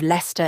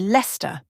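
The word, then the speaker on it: Leicester: very unexpected ways for example the city of leester in England many people might think it's pronounced leest but the correct pronunciation is actually Lester and then there's wer it's not West but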